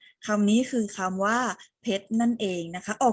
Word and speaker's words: เพชร: ใน มาตรา ตัว สะกด เรา ออก เสียง เพชร เรา ไม่ ได้ ออก เสียง รอ เรือ ไป ด้วย นะ คะ ทั้ง 3 คำ